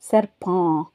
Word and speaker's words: serpent: இதே ஃப்ரெஞ்சில் சொல்கிறதா இருந்தால் சேம் ஸ்பெல்லிங் தான், அதே ஸ்பெல்லிங் தான் வரும், ஆனால் ப்ரொனவுன்சியேஷன் மாத்திரம் மாறும், உச்சரிப்பு மாத்திரம். சர்பான். பா. PENTன்றது பா. அந்த கடைசியில் இருக்கிற டீயை உச்சரிக்க மாட்டோம்.